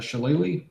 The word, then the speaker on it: shillelagh: I will do my shillelagh and a Shillelagh.